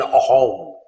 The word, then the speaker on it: Assam: In Assam, Sa is pronounced as Ha. What we call as Assam, in the local language is called Ahom, not Assam.